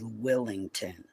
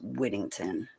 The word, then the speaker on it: Whittington: I was saying it was Willington. No, I'm wrong. It's Whittington.